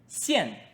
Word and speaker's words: 现: If we add a “王” to the left of “见”， "xian4". "xian4".